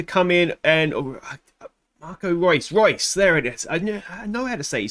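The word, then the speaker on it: Reus: and rouse to come in and marco royce royce there it is i know i know how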